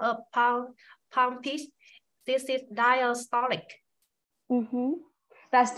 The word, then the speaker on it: diastolic: needs announce after it so you can say diastolic blood pressure because blood pressures is good good